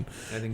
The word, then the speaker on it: Ghibli: What's the exact pronunciation. Ghibli.